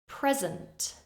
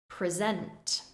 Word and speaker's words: present: First, I will say the noun form, stressing the first syllable. Then I will say the verb form, stressing the second syllable. Again, listen and repeat. Record, record, present, present, object, object, permit, permit,